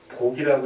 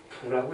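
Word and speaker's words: 卜: 이 논은 14부, 이게 복이라고 읽었는데 우리 또 심영한 박사님께서 무식하게 복이라고 읽으면 안 되고 부라고 읽어야겠다 그래서 부자랍니다.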